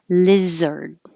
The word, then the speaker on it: lizard: some more simple words lizard it looks like a but sounds like er lizard wizard alive alive soon